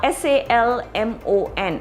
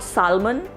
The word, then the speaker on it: salmon: uh is a fish now s-a-l-m-o-n and it is not salmon it is salmon it is salmon the fish salmon which goes into some